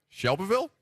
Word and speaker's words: Shelbyville: Shelbyville? Close enough. Yeah. Okay. Let's go to Nick. Hello, Nick. Hey, guys. You got to pretend like you got rocks in your mouth and say it like shovel.